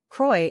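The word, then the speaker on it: croí: two difficult pronunciations here Croy is probably the hardest word to pronounce you want to use a guttural age CH sound from your throat that doesn't exist in English it's basically the same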